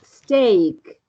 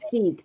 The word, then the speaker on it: steak: No, porque esta, la primera es steak. No es stick, es steak. No se pronuncia stick, se pronuncia steak.